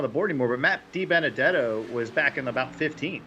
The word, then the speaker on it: DiBenedetto: Di Benedetto. Yes, yeah, but say it like I did. Say Matt De Benedetto. Matt Di Benedetto.